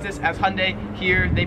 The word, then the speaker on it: Hyundai: So in America, we pronounce this Hyundai, which everyone tells me is wrong. See, I don't like the. I always try to pronounce the Y. Hyundai. That's how I say it.